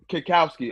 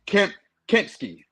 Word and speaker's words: Kempski: By Jim Kikowski. I always don't know how to pronounce his last name. Kempski. Okay, by Jimmy Kempski.